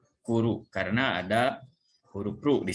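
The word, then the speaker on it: 来る: Ya, ini dibacanya kuru karena ada huruf ru di sini. Jadi ini dibacanya kuru ya. Bukan kitaru ya, tapi artinya datang ya.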